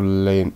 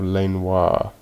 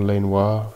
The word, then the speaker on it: Lanois: Daniel Lane, I believe this is pronounced Daniel Lanois. Yeah, you recommended Xanopticon to me. Daniel Lanois, who I think is how you pronounce it.